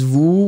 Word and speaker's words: vous: So remember that first you have this combination of O and U together. This gives you this round sound. Ooh, so you really put your lips like a trumpet. Ooh, like that. You can make sure that the ooh will be pronounced. Make it longer. Ooh, and after that, short. Remember, final S not pronounced. So it gives you vous.